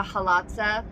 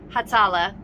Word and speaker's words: Hatzalah: The halatza, how do you say it? Hatzalah, the ambulance, the Hatzalah.